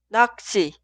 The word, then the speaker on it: 낚시: escribimos así y se pronuncia 낚시, 낚시, 낚시.